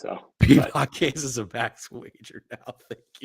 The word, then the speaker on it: Piedmont: Peapot. He fucking said Peapot. I'd forgotten how it's correctly pronounced, though. Piedmont is a max wager now.